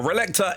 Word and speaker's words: Relicta: Next up, I do think it is pronounced Relicta, which will be available from the 16th of July to the 15th of August. Now, Relicta is basically a sci-fi